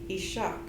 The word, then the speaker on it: Ishak: means the people and the emphasis on that is on the second syllable so it should be said ishaq the choctaw called them